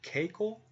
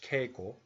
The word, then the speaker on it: keiko: cake okay CACO dude have you ever heard Keiko in Japanese it's not a girl's name tickle again cake or his spells care k e i ke o K Co but when we say it we use long valve so it's that cake